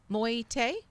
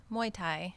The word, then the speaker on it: Muay Thai: next podcast Thailand's National moyete did I say it right Muay Thai Muay Thai okay Champion will join